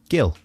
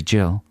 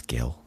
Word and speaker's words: Gil: to that question uh how would you pronounce the name g l gil from Essex could be Jill it's Gil Gil during my career as